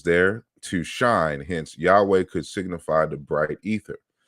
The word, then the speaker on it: Yahweh: that correctly who says the similarity of yahweh with javas jupiter which is insufficient enough in itself disappears entirely when the name is pronounced rightly yahweh and so you know